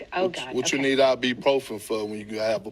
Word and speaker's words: ibuprofen: It's ibuprofen. people don't really pronounce the U in it, but it is IBU and then profin.